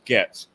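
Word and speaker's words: Goetz: want to know about Bernie GS and it's pronounced GS so he was he was an elderly man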